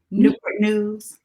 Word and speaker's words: Newport News: And how did you pronounce that? Newport News.